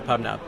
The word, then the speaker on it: PubNub: I mean, we're a publish subscribe system, and so PubNub rhymes with pub sub, and it was just a good brand to go after.